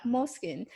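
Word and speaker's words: Moleskine: And then I discovered moleskins, or yeah, moleskin. Most I pronounce it as moleskin.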